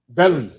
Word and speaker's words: Baali: Belly. They pronounce that belly. Yeah. Belly.